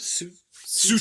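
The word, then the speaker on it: Tsu'tey: Sute, yeah. Sute, yeah.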